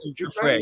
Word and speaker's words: Giuffre: Virginia Giuffre? Giuffre, yeah.